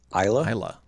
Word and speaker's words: Isla: I want to make sure it was because my pronouncements would have been like Islay. So Isla. So it's the last song here. That's how I pronounced it. It's after a region in Scotland, and I pronounced it that the first time. The first time I pronounced it that way to a Scottish person in Scotland, I was quickly corrected.